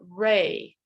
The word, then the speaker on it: Re: it was the god Re, and it's spelled R-E, like do, re, mi.